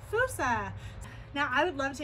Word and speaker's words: fossa: I swear it's pronounced Fossa. But next time you guys come to the zoo, you'll know that it's pronounced Fossa.